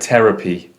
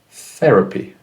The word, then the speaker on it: therapy: harder T like terrible if we said terapy it's understandable but it's not clear enough therapy therapy example sentence the therapist